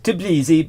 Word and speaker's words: Tbilisi: I'm always pronouncing it wrong. And Oh, no worries. Tbilisi, but that's okay.